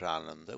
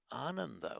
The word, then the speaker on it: Ananda: By the way, don't pronounce it Ananda. That means joyless. It's Ananda, which means joyful or bringer of joy. Very important difference there. Not Ananda, Ananda.